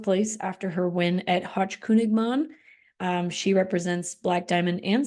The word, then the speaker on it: Hochkönigman: This includes Hochkungmung. Did I do that right? I think it's Hochkönigmann.